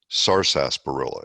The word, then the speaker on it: sarsaparilla: Well, it's actually sarsaparilla is the way it's spelled, the correct way to pronounce it.